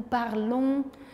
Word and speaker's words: parlons: D'ailleurs, on fait un son nasal même avec d'autres verbes. Donc nous parlons un son nasal. On ne prononce pas le N.